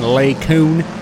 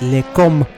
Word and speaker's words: Les Combes: Incident in Les Coon. It's Les Combes.